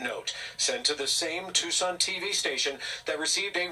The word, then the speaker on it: Tucson: sent to the same Tucson TV station that received a ransom note through. By the way, Tucson should be pronounced tuxen. Tuxen. It just looks like tuxen to me.